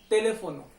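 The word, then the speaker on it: teléfono: के देखिए, टेलीफोनो, टेलीफोनो, तो ले के ऊपर ज्यादा जाता है, टेलीफोनो, टेलीफोनो, ठीक है, फटाफट खत्म हो जाता है, टेलीफोनो। तो इसका जो उच्चारण के हिसाब से लगेगा वो होता है ए के ऊपर, टेलीफोनो, ठीक है, टेलीफोनो।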